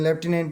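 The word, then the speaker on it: lieutenant: अधिकतर पूछी जाति है या लेफ्टिनेंट की स्पेलिंग ल ए यू टी ए एन ए एन T nutrient यानी की इसको हम क्या कर सकते हैं जैसे लर्न कर सकते हैं लेफ्टिनेंट बोला जाता है और करनाल की स्पेलिंग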